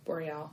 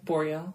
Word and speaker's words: Boreal: in contact with Lord Boreal Boreal I don't know how you say his name yeah Boreal yeah like so the like Aurora Borealis yeah but this was